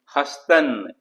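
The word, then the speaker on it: هستند: इस तरह से हस्तंद तो इसमें भी देखिए नून और दाल को प्रॉपरली प्रोनाउंस नहीं करे तो इसमें दाल को ड्रॉप कर दीजिए हस्तन।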